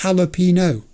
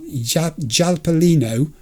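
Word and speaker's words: jalapeño: It's Jalapino. Not Jalapelino for sake. Not that hard.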